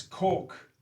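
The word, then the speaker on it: caulk: but it's solda and it's cork without the L like c k pronounced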